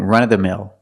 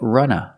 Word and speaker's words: run-of-the-mill: you hear people say Runa run of the mill because after of we have a consonant with th andth people don't pronounce the V all the time it's more common to hear Runa runof-the-mill and what does